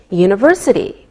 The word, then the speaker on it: university: don't pronounce the h we say a university because University sounds like a y sound same with a European